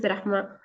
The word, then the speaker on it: Rahma: Let's go to Rahma. Did I pronounce that correctly? Yes, it is Rahma.